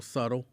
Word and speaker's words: subtle: can always tell when people learn how to say how to spell subtle because they actually pronounced the b and i'd be like you